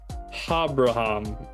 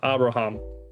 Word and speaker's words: Abraham: here which means that we put an H sound in front of the A and so it's habraham Habra there we go cuz each vowel gets its own syllable so it's um ha bra um three syllables Abraham which is you